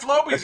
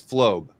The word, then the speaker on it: Flobe: See, that Floby's even telling you. Well, you got to pronounce his name right before you can say that. His name is Flobe, not Floby.